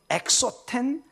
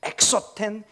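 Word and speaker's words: ἔξωθεν: 보면 굉장히 소리가 비슷합니다 것은 엑소 텐 속은 에소 텐 거의 발음이 비슷합니다 그래서 거의 구별이 안 되는 것처럼 보입니다 그러나 극명하게 지금 대조 되고 있습니다 엑소 팬 에소텍 언뜻 보면 이게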